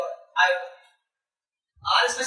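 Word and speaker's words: aorta: क्या कता आयो बाल ये एओ आरटी है इसका बेटा हमारा ये आर साइलेंट रता है इसको कहते हैं आयो क्या कहते इसको आयो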